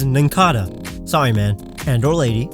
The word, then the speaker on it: Nincada: I know it's based on a cicada, but every official pronunciation is Nincada.